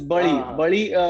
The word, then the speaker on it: बली: the pronunciation इ बड़ी इन मराठी दे देर अ alphabet वच इ प्रोनाउंसड एज ल सो द हिंदी डायलेक्ट और the Bengali dialect dozen necessarily have the raw pronunciation so इट्स बली बली मतलब हम बली चढ़ाते